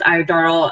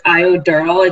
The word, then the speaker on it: Iodoral: Abraham's iodoral, I think the internet would kind of got choppy, so I just wanted to reiterate the word. So it's iodoral, is that correct?